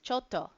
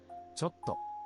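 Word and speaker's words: ちょっと: This is choto. Okay? Choto means like a little. Chotto. People tend to say it like, you'll hear it a lot with totomate, which means wait a little. So, chotto.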